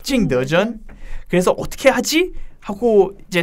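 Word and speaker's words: 景德镇: 중국 통인 백희영 기자가 방금 여러분 원어민 발음을 해줬습니다. 징더전.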